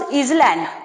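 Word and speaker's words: island: You don't pronounce आइलैंड, okay, I एस एल ए एंड S, that is आइलैंड्स, that is आइलैंड्स, you pronounce आइलैंड, okay.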